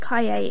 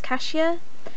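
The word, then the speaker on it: cahier: lots and lots of different ways and it's pronounced kaye and if you hear it different way that's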